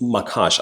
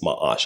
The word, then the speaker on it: Macaash: way to real estate that is makash as many of you would call it but I'm told the right pronunciation is mahash.